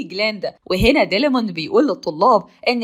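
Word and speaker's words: Glinda: اسم جليندا غلط فبتعطي وبتقول له لا مش عشان انت معزه يعني تنطق اسمي غلط انا اسمي جليندا وهنا ديلمون بيقول للطلاب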